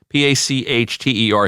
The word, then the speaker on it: Pachter: Pachter. He wanted to make sure that I pronounced his name correctly.